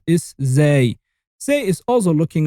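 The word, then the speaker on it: ز: on top of it, and it sounds exactly like the Z of zero. You say Z, Z, Z, Zay.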